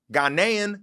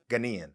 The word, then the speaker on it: Ghanaian: i said that right ghanian he's like that huh no i think americans say ghanaian but after you say ghanian well you know i said i say it the right way yeah yeah yeah that's